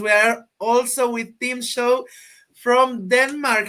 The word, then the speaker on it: Schou: So in Danish, it's Schou, but ever since anybody outside of Denmark has tried to pronounce it, it's always been Schou.